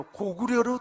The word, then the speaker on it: 고구려: 세계문화유산에 등재할 때 중국 발음인 까구리로 등재된 게 아니라 고구려로 등재돼 있어요.